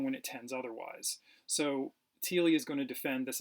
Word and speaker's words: Thiele: It's pronounced Thiele.